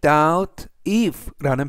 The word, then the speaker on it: doubt: 안녕하십니까 여러분 I doubt라는 패턴인데요 이때 하면 의심하라는 뜻이 있습니다 그리고 발음은가 무음이라라고 발음하시면 되겠고요 그리고 if 하면 여기에서는